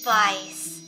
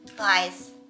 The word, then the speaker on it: bajs: Bice. How do you spell it? B-A-J-S. B-A-J-S. Bice.